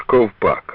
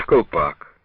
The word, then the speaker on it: Ковпак: називали нас до речі Вони не вимовляли товариш ковпак а говорили товариш колпак від того напевно і